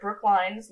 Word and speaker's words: Brookline: candle eating down near Brook lines long one school Brookline not Brooklyn I was gonna say yeah you actually said it right ya know cuz if